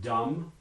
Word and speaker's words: dumb: is not there anymore these are words like dumb which is spelled with an mb at the end but there is no actual cluster and are there some